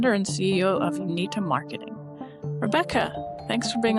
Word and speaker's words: Unita: Uh well, first, I'm going to commend you on pronouncing Unita correctly.